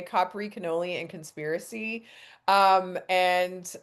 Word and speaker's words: Capri: Um, like I said, I have a pre-order available for I know most people say Capri and I'm pronouncing it the Italian way. Capri, canoli, and conspiracy.